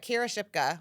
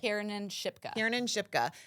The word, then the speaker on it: Kiernan Shipka: But Kira Shipka, that's how I pronounce her name, right? Kiernan Shipka.